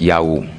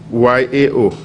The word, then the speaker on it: Yao: We have Eric Yao.